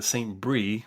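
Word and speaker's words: Saint-Bris: de Lambert de Saint-Brie was looking at Venezuela. In 1888, he published a book the same year as Marcou, claiming that the name came from Amaraca Pana. Saint-Brie, and Brie is spelled B-R-I-S.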